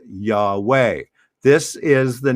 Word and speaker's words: Yahweh: an h a w and an h usually pronounced yahweh this is the name of god or the